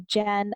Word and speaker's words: Jen Esquer: And my Instagram handle when I first started on social media and through fitness was actually Jen_ES_care, because that's how you said my name. That's how you pronounce it.